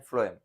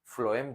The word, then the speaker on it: phloem: फ्लोएम जब भी हम प्रोनाउंस करते हैं ना तो फ्लोएम में एफ लेटर का प्रोनाउंसिएशन हो रहा है।